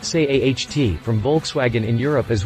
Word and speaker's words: SEAT: mass market models like the seat leon pronounced say aht from volkswagen in europe